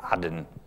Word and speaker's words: Aden: Aden, which from now on I will pronounce the correct way, Aden.